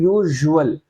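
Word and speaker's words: usual: अब यहाँ पे देखिए थोड़ा सा हम इसे हेवीनेस के साथ प्रोनाउंस कर रहे हैं, लिखा तो हमने ऐसे है लेकिन प्रोनाउंस क्या कर रहे हैं, यूजुअल, यूजुअल। तो ये हमें झ साउंड देता है, झ।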